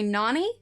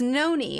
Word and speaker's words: Noni: And for the longest time I had to have a note on the wall because when I read it, I would say Nani, but it's Noni.